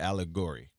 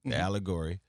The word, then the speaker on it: Allegory: So it's pronounced the Allegory, Allegory, and you're absolutely right about the definition.